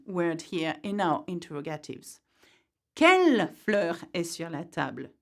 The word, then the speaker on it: quelles: but that's okay because in French, the sound for what is quel, no matter how you spell it, if that makes sense.